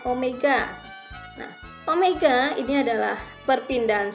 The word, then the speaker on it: omega: rata-rata kecepatan sudut dilambangkan seperti huruf w tapi ini membacanya Omega nah Omega ini adalah